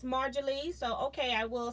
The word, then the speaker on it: Marjorie: I used to say that, but then I wondered if the J was silent, so I've been saying Mary Lee, but it is Marjorie.